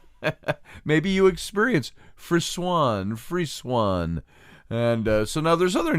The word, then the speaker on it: frisson: ever felt this you've experienced a phenomenon called frizzen and that's Fri sson frisson and it's pronounced it's actually pronounced free Swan free Swan is the way they pronounce it